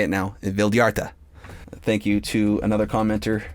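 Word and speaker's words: Vildhjarta: Vildyarta.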